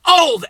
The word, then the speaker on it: Auld: Lang was a nice guy, and it's not even spelled old, O-L-D. It's spelled old, A-U-L-D, old.